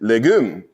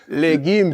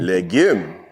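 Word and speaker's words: legim: Jamaican in the house you know I would pronounce it legum but no no no no it's leim leim yes so first thing that you have learned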